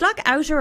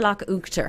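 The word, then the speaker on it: Lough Oughter: out to Is it Loch Outer or Loch Uchter? How do you pronounce that? Well, you can call it either, so you can.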